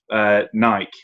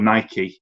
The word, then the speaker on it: Nike: Knight, who set up Nike, or Nike as it's apparently pronounced.